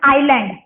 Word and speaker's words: island: तो first example मैं आपको बताती हूँ, like आइलैंड, ISLAND, आइलैंड, एस जो है वो साइलेंट है, ठीक है।